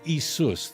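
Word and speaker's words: Ἰησοῦς: Jesus I'm not kidding as isus that would be how you pronounce it in Greek that's why people get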